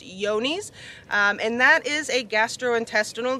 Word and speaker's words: Johne's: testing for is called yoni's a lot of people will call it john's because that's how it seems to be spelt but it's actually pronounced yoni's and that is a